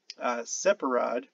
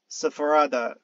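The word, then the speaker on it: ספרד: Thus, the Hebrew word for Spain, separad, was pronounced Sepharada. Sorry, Sepharad.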